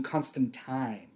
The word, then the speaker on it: Constantine: that scene specifically uh lucifer calls him constantine which as you've alluded to before well that's the correct pronunciation all of us luddite